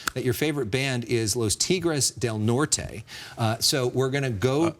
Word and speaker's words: Los Tigres del Norte: You know, you've played the game Personal Issues with us before, and you told us that your favorite band is Los Tigres del Norte.